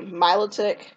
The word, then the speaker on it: Milotic: a shiny Milo and it's really Milotic is how you say it I like the